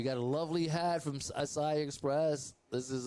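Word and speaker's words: açaí: No, I don't understand why people say acai. It's acai. Acai. See? There it is. These are her sponsors. Acai. It's acai. Acai. It's acai. That's why it has the acento en la I.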